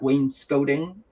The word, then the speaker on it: wainscoting: staggered i believe that in the states you guys call that wainscoting which is not how you pronounce it it's when no you guys call it wayne scott and we call it wayne scoting or something anyways something like that yeah point let's go